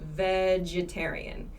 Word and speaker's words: vegetarian: sound changes vegan and vegetarian so remember vegetarian has the same pronunciation as vegetable vegetable vegan takes a